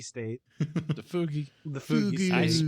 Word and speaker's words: fugue: Fugi state. The fugue.